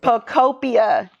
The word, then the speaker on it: Pokopia: Pokopia. That's how you pronounce it.